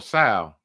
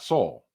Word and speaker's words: Saul: to the fact that I called Better Call Sal, and not Saul. Like almost was like he looked at me like little nigga, or matter of fact, nigga. Learn how to pronounce Saul.